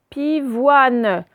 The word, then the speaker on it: pivoine: On ne va pas dire une pivoine E. Ça casse la syllabe ici. Donc, ça fait une pivoine.